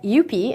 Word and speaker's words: Eupe: Moving on to our stocks with momentum, we are looking at Eupe, and I actually called the company, and this is how you pronounce it, Eupe Corp Bhd.